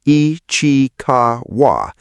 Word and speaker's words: Ichikawa: municipalities, including Chiba City, Ichikawa, pronounced Ee-chee-kah-wah, and Sakura, pronounced Sakura.